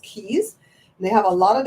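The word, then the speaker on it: Cayes: C A ye s they differ but it's still pronounced keys they have a lot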